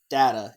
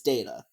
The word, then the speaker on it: Data: It's not Data, it's Data.